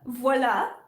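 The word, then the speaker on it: voilà: and like if you they'll say voila like voila like um no no it's voila and then yeah yeah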